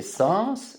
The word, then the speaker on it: sens: Donc les sens, c'est S-E-N-S et je prononce le S.